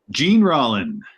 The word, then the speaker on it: Jean Rollin: Jean Rollin. Jean Rollin. Jean Rollin. Okay. All right. But it's pronounced that way? Jean Rollin would be the Frenchier way to say it.